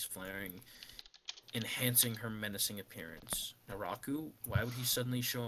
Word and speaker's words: Naraku: Naruka? Is that Max? Pronunciation check. Naraku.